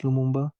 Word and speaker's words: Lumumba: a piece of paper mistakenly pronounces the surname of the renowned political and state figure. The first prime minister of the Democratic Republic of the Congo, Patrice Lumumba. Is Lulu Lumba using Lu instead of M?